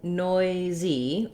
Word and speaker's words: noisy: Then when we get to noisy, all we do is we still have that same noi vowel, the same Z sound, and we're just adding the E sound at the end, and it's two syllables.